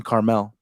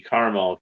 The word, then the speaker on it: Carmel: is coming well there's no second day in Carmel it's because the city's spelled c-a-r-m-e-l so it's yeah they're not that far but yeah some people say caramel caramel Porsche Porsche of course a bag you